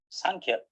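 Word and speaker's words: saṅkhyā: is consciousness and we when we pronounce sanchez with an emphasis on n sunk here it means numbers so sankhya is a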